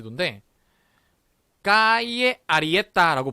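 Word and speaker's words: calle: 지도입니다 마드리드 치 근데 까이에 아리의 따라고 발음을 해 주셔야 된다는거 자여 이 부분이 깔레 가 아니라 아까 이제 라고 발음이 난다 그래서 까이에 a 이해했다 라고 발음합니다 자 다 같이 한번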